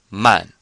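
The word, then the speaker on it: 慢: as in to e so it sounds the ending the a an final sounds just like it does here and here except we have an M before it so we have man and this means slow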